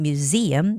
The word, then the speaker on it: museum: And the word museum, also the same, museum, the stress goes on E.